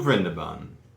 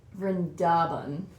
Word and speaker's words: Vrindaban: is open to all new Brenda bun no you have to pronounce it right rendaban so interesting to have